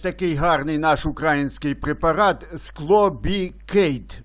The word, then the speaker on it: SCLOBICADE: Ось такий гарний наш український препарат склобікейт, правильно читається. Діє як дно, як днок, але менш токсичний. Називається, читається, ще раз кажу, склобікейт.